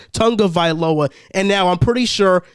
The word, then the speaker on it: Tagovailoa: not winning with tua tonga villa since i'm always getting his name wrong it's tonga tonga viloa and now i'm pretty